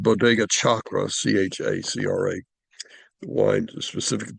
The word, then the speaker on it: Chacra: He calls the winery Chacra. It's spelled Chacra, as a reference to the word chakra, Chakra, because he thinks the wine is a connection between man and God.